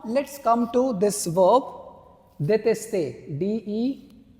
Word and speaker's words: détester: I hope the pronunciation is clear. Okay, now let's come to this verb, détester. D-E-T-E-S-T-E-R. Détester.